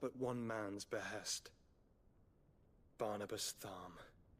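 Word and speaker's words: Tharmr: Barnabas Thm. Not going to lie, Thm is not how I would pronounce that.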